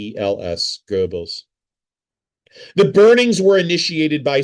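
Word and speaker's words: Goebbels: G O E B Ls Gerbles.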